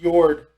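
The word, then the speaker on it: Jörd: It's pronounced Jord. Yeah. The Y So sound.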